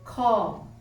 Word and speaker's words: ความ: Note that call in ข้อความ is pronounced with a falling tone. Call, while call is pronounced with a rising tone.